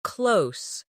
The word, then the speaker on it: close: The verb rhymes with rose, while the adjective rhymes with dose.